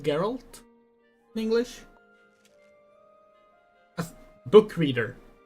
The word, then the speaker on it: Geralt: half The Witcher books are about her not Gerald uh yeah basically uh spoilers for The Witcher books um geralt is pronounced geralt in English a book reader here not not